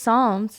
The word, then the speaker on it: Psalms: itms it's not how's it just Psalms it's got a letter P in front of it I don't give a A P silent how's a p silent